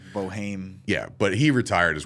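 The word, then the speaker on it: Boeheim: it and it says it looks like boheim yeah it's like Boheme yeah but he retired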